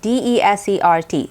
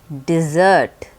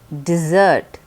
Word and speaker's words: desert: at the verb form the verb form is also spelled the same d-e-s-e-r-t but the pronunciation is different it is not pronounced desert it's pronounced dessert dessert the meaning of this